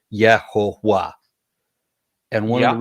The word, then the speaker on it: Jehovah: So it ended up sounding like YeHoWaH, which is where Jehovah comes from, but it's really just a Yeah, Germanized version of pronunciation.